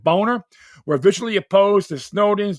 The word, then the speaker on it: Boehner: Republican Senate leaders at the time, including 2012 presidential nominee John McCain and Speaker of the House John Boehner, that's exactly how they pronounce it, Boehner, were visually opposed to Snowden's disclosure of classified information.